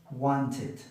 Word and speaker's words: wanted: Entonces, los que terminan en D o en T van a ser id.